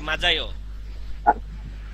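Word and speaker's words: 맞아요: কি হবে বলেন তো উচ্চারণ কি হতে পারে বলেন মাতায়ও নাকি মাজাইও মাজাইও মাজাইও কেন মাজাই হবে এই জিটাই এখানে উচ্চারণ হবে এখানে আসলে এটা জ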